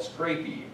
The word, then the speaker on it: scrapie: And so a lot of people around Wisconsin, when I go and talk to them, they always are saying scrapies. And I think, no, it's scrapie.